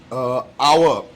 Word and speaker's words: hour: For example, the word hour, H-O-U-R. It is actually that is the spelling, H-O-U-R, but you actually, when you say it, the H is silent.